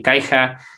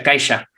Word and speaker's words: Caixa: y me dice o se pronuncia caixa aunque debería ser caixa porque es catalán me dice y los